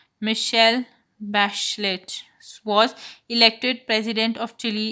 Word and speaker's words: Michelle Bachelet: That girl, Michelle Bachelet, pronounced Michelle Bachelet, was elected president of Chile in January.